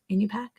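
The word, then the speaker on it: Iñupiaq: gatherers and you pack that's how you pronounce and you pack yeah like tupac nope not really definitely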